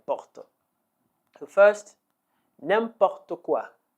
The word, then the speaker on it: n'importe quoi: no please don't okay let's learn how to pronounce it all the various expressions that we have derived from name bottle the first name pop taqwa name popped aqua name POC - name pop